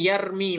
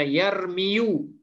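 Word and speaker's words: يرمي: Nah, itu makanya di sini yarmi bacanya. Yad'u kemudian yardo. Tidak bisa kita baca yarmiyu ataupun yad'u atau yarda'u, nggak bisa.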